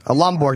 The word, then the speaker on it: Lomborg: Lomborg, not Borg. That's good. Lomborg?